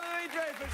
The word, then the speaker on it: Louis-Dreyfus: to get into together a clip of you mispronounced the pride it's my st. Patty's Day gift to you Julia Julia Louie Dreyfus Julia Louie Dreyfus Julia Louie Dreyfus everybody I'll